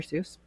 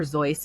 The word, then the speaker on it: Seuss: It on Mulberry Street by Dr. Seuss, or Zoyce if you're Eric. He didn't like how I pronounced Dr. Seuss.